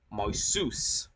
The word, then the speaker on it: Marcus: The C in Marsus, as I've said before, is pronounced as an S and the U is pronounced as an O, meaning Marsus.